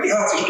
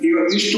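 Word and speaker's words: ইহ তিষ্ঠ: আর বলছি ইহতিষ্ঠ বলতে চাইছি, কিন্তু বললাম ইহাতিষ্ঠ। কিন্তু সামান্য যে উচ্চারণের প্রাপ্তকের জন্য অনেক অর্থের বিপর্যয় হচ্ছে।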